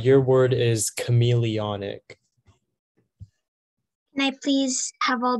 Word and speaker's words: chameleonic: Your word is chameleonic. Can I please have all the information? Also, can you keep your hands up? Oh, yeah. Okay, so the only pronunciation is chameleonic.